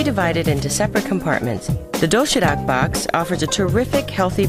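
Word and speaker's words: 도시락: The doshirak box offers a terrific, healthy variety of neatly packed food.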